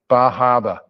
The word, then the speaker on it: Bar Harbor: And this is Bar Harbor. And I include this slide just because I like to say Bahaba, because that's what they call it.